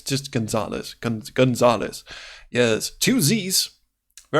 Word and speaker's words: Gonzalez: himself Francisco Gonzalez and is not how you pronounce his last name please don't hold that against me it's just Gonzales cans Gonzales yes twosies very important I keep